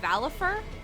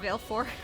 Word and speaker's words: Valefor: i think you when it was actually saying valifer that's how it's actually pronounced but i've always said well four i don't think i